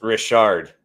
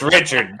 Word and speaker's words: Richard: darren says it's pronounced richard well then yeah then he is french yeah he's french yeah so it's don't try and church it up it's richard it's richard uh anyway so they